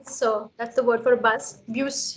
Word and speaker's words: bus: That's the word for bus. Bus. You're not saying bu. Saying bus.